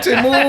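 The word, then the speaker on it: Temu: That's the new way to say it. Yeah. I was like, what the fuck is this? I've You just keep saying Timu. I've been saying it wrong the whole time.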